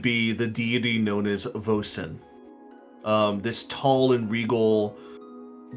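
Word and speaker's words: Vosyn: You could put a you could put a little dash to help you pronounce her name of VO and then sin. and phonetically spell it or whatever I need to.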